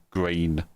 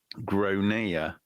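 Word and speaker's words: Gráinne: g r a i n n e Yeah, I mean that says says grain. Yeah, so anyway the kid is called grainier not grain.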